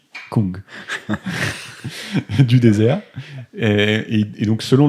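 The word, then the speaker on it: !Kung: alors, ça s'écrit point d'exclamation Kung, et ça se dit Kung, du désert.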